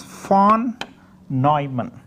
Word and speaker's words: von Neumann: In fact, this is a German name, so you have to pronounce as von Neumann.